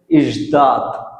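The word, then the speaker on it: ждать: এই যে একটা শব্দ লিখছি এইযে একটা শব্দ লিখছি শব্দটার উচ্চারণ হচ্ছে ইশদাত ইশদাত ইশদাত ইশদাত মানে অপেক্ষা করা ইশদাত মানে কি ইজদাত মানে অপেক্ষা করা ইশদাত মানে অপেক্ষা করা।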